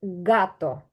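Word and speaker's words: gato: вона називається х але читається Як бачите я написала українську Ґ це та яка в горлі так от дзвінко звучить гато це не гато це гато можте так сказати гато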